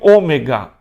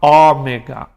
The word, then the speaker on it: ômega: de PS e o ômega Alguns vão falar Ómega na pronunci a gente faz fala fechado Ômega Então esse alfabeto grego